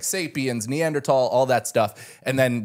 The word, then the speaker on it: Neanderthal: The Neanderthal. H is silent.